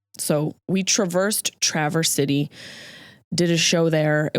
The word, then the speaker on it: Traverse City: But ironically, maybe not so ironically, this city is pronounced Traverse City. So we traversed Traverse City, did a show there.